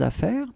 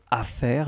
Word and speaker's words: affaires: plural form, so for affaires, your things, okay? So because it's plural, so first we will put the S at the end of affaires, you don't pronounce it.